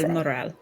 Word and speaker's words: Del Moral: Del Moral.